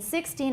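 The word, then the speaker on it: sixteen: Usually if it's the predicate, 就是一句话的补语, then it's going to be on the second syllable.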